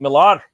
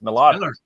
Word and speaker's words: Millar: And it's Mark Millar. It's Miller, but when you say it in Scottish tongue, it's Millar.